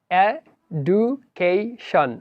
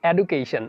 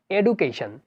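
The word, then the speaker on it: education: এবার রয়েছে আমাদের পরিচিত একটা শব্দ যেটা হচ্ছে এডুকেশন। আমরা অনেকেই বলি এডুকেশন, আসলে শব্দটার উচ্চারণটা সম্পূর্ণ ভুল। DU সাধারণত যদি কোনো শব্দের মাঝখানে থাকে তাহলে এর উচ্চারণটা হবে জু, এবং DUAL এর উচ্চারণ হবে জুয়াল।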